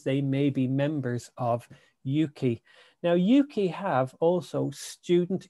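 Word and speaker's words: Ukie: in the uk they you could pronounce it as yuki so it stands it's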